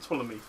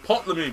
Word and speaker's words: Ptolemy: Oh, you were actually with Ptolemy. I was a sea fetus. Why do you have to pronounce the P in his name for? It's Ptolemy, bro.